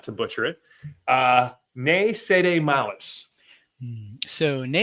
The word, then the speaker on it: Ne Cede Malis: So tell us about, and I'm going to try not to butcher it, Ne Cede Malis.